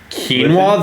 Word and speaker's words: quinoa: don't know that word quinoa that's how you pronounce it it's like quinoa that explains why I